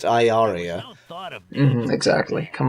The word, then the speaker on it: Ilaria: Pronounced Iaria.